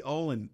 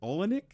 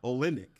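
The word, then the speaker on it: Olynyk: guys are at Gonzaga right and and Kelly Olen olenic is how oh olenic okay yeah I should pronounce his name properly but I guess he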